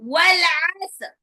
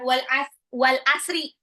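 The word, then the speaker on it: والعصر: Bacanya bukan wal asri. Pertama dia pakai ain, depannya pakai ain. Ya. Terus sod itu lebih mirip dengan sin, bukan shin, ya. Terus ro. Ini bacanya gimana kalau di wakaf? Ro-nya tetap kedengar.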